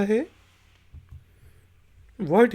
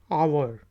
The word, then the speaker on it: hour: इसके बाद वर्ड है जी HOUR, आवर। आवर घंटे को कहा जाता है, इसमें H की आवाज़ नहीं आ रही, हावर नहीं कहेंगे, आवर।